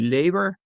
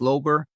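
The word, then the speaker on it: Löber: this is l o b r and it's pronounced differently it could be labor but my wife's branch of the family says ler and so in deference to her that's the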